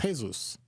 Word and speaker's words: Jesús: If you speak Spanish, it's Jesús. If you don't speak Spanish, it's Jesus.